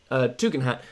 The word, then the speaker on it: Tugendhat: Next is Tom Tugendhat, who's actually pronounced Tugendhat.